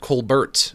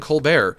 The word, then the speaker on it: Colbert: I think uh I think his parents, they pronounced it Colbert. And then one day he was just like, "You know what? I'm going to start saying Co Bear."